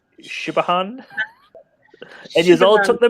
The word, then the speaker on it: Siobhan: Like if I was just gonna read it, like my brain wants us to, right? I'd go Sahobahan. Why do people have names that don't get pronounced? It's stupid. Yeah, I've just put it in the chat for everyone else. But that's the one where I was like, Shibahan.